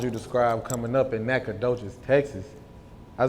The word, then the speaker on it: Nacogdoches: yeah how would you describe coming up in Nacogdoches Texas I said it right Nacogdoches Nacogdoches yeah that's the oldest town in Texas